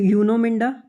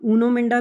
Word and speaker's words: Uno Minda: Company का नाम है यूनो मिंडा, या आप ऊनो मिंडा भी प्रोनाउंस कर सकते हो, जैसे भी आप प्रोनाउंस करना चाहो।